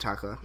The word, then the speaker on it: Takla: His name is Takla, right? Is that how you pronounce it? Yeah. You got it. Yeah, Takla.